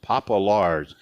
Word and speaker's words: Popielarz: His last name is pronounced Popolars, and it's spelled Popielarz.